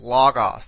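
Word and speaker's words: λόγος: Here you see, in this case, this particular word has an accent on the penultimate syllable, this omicron, logos.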